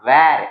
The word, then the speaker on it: where: कैसे, first one WERE, that is वर, इट इज नॉट वेर, इट इज वर। Okay, इसका pronunciation होगा वर। Okay, it इज वर, एंड ये WHERE वो होगा वेर।